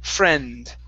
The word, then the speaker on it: friend: friend uh right here instead of friend with a short I it's a short e sound e f friend friend friend uhhuh e